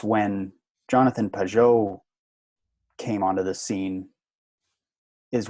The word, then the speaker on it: Pageau: And Pageau's ideas, I always pronounce his name weird. Pageau. That's the way to pronounce it, isn't it? Yeah, I guess I Pageau? put the emphasis on the wrong syllable, as they say.